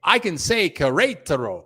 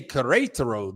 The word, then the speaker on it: Querétaro: Hey, but this year I can say Querétaro. I can say Querétaro this year. Querétaro, I can say it now.